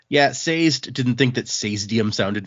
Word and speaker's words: Sazed: Well, I mean, like I watched that video from the con where he's talking, and he pronounced it Sazed.